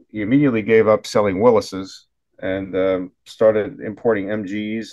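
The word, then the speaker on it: Willys: I think it's called Willis pronounced w i l l Ys I used to say Willies but I think it's Willis um dealership in um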